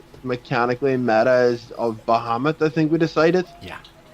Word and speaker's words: Bahamut: that in final fantasy it's bah humbug but in D&D it's Bahamut I think there's a